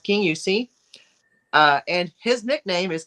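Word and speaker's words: Kingussie: it's spel if you spelled it it say King Gussy but it's pronounced King although there was some controversy with me and Dave on that it's pronounced King yusi uh and his nickname is King yusi Kong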